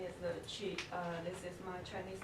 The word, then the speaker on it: Qi: And do you like being called Chi? Called Chi. Yeah. Yes, just Chi. Okay. Just Chi, that's Yes. okay. So everybody knows, and how do you spell it? QI. Q-I, Yes.